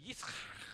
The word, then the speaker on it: Yitzchak: It's really Yitzchak. На самом деле его нужно произносить «Ицхак». Hebrew, right?